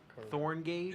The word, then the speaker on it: Thorngage: Corin Thorngage. It's K-O-R-I-N. Corin Totally different. Thorngage. It's basically how it's spelled. It's thorn and then gauge.